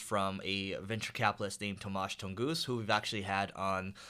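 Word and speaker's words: Tomasz Tunguz: a blog post from a venture capitalist named tomasz tongoos who we've actually had on the leveling up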